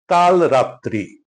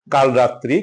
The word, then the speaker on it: কালরাত্রি: 25শে মার্চের কালরাত্রি। কিন্তু আমরা ভুল করে এটাকে উচ্চারণ করি কালো রাত্রি কালো রাত্রি ভিন্ন জিনিস কাল রাত্রি ভিন্ন জিনিস এটা উচ্চারণ হবে কাল রাত্রি কৃষক কৃষক না স